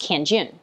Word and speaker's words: Kanjun: For example, if I tell you my name is pronounced Kanjun, then you'll pronounce my name Kanjun.